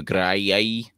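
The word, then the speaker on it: Graeae: with the the three The Witches the the gray that's how it's pronounced who shared the eye right um and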